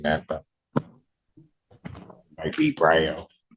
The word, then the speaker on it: Bro: Um, Jacob Ellen, bro. It's pronounced bro.